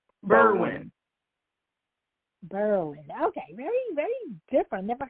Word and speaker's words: Berwyn: thank you so much how how was it pronounced berlin berlin okay very very different never heard of that